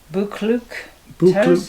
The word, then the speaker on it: Buccleuch: It's actually in the, I can't pronounce that. Becca. Oh gosh, Buccleuch Terrace, the Till's Bookshop.